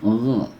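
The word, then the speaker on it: غ: Yang ini kho, ya, kho, terdengar seperti di pangkal tenggorokan ya, kho. Yang ini gho. Nah, ini di langit tenggorokan, gho.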